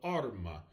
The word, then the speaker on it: arma: The next example with arma, again, stress that first syllable of arma.